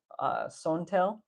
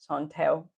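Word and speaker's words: สองแถว: They're in Thai, it's called Sontel. Sontel. That's the pronunciation.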